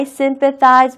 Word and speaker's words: sympathize: 우리가 표현할 수 있습니다 sympathize n 발음에 조금 유의하시면 좋겠습니다 왜냐면은 프 발음과 스 발음이 같이 있기 때문에 프 발음 피 발음을 할 때는요 절대로 혀가 치아에 중간을 위치하거나 혀가 치아에 닿지 않습니다 프 입술만 가지고 소리를내는 거기 때문에 뭐 이렇게 하는 거 아니에요라고 하면서 사이즈 발음을 할 때는 CH 발음이 있기 때문에 치아 사이에 혈을 이렇게 한번 왔다 갔다 하는 거 그것도 꼭 잊지 마세요 정확하게 바라는게 중요하니까요 다시